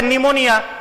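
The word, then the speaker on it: pneumonia: यहां पर P silent है। ठीक है। पी का प्रोनाउंसिएशन नहीं करेंगे। ये क्या हो गया? निमोनिया।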